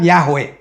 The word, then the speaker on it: Yahweh: Nah, yang kedua, YHWH, yang kemudian diucapkan Yahweh.